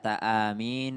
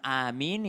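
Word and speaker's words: آمين: Dalam kitab Fathul Bari disebutkan 2 pengucapan amin yang benar ketika orang dalam keadaan sholat. Yakni yang pertama adalah mad badal di huruf hamzanya 2 harokat, dan min itu ya-nya itu adalah mad arid lis sukun maksimal 6 harokat.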